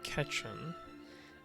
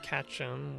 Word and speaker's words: Ketchum: them they're massive so ash from pokemon is ketchum and if you say it's syllable by syllable you hear ketchum which is like the motto pokemon gotta catch em all i imagine that's